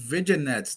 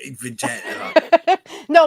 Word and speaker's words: vignette: though I'm sorry Angel those viget though vignettes say vig no my man picks on